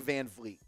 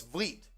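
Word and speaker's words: VanVleet: it's but it's Fleet no it's Vliet there's no F it's van Fleet is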